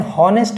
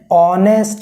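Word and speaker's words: honest: हॉनेस्ट नहीं पढ़ेंगे आप, एन हॉनेस्ट मैन नहीं होता है, एन ऑनेस्ट मैन। और प्रोनाउंसिएशन कहाँ से स्टार्ट हुई, सेकंड लेटर से स्टार्ट हुई, ऑनेस्ट मैन, नॉट हॉनेस्ट मैन। इसमें भी एच साइलेंट है, इसमें भी एच साइलेंट है, ठीक है।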